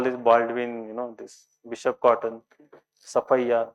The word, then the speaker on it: Sophia: So all this Baldwin, this Bishop Cotton, Safaya. What is this? Sophia? No, Sophia. It is Safaya. So those who are born and brought up in Bangalore, they know it very well.